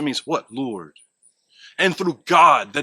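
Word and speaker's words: גד: That is without dispute pronounced God.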